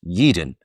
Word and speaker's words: Yeadon: said in recent months yeden pronounced yeeden has emerged as an